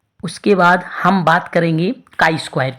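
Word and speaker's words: chi-square: काई स्क्वायर Greek भाषा का एक शब्द है जिसका उच्चारण कई वर्ग के रूप में किया गया।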